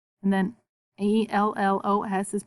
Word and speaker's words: ellos: And then E-L-L-O-S is pronounced ellos, ellos. That double L says ya.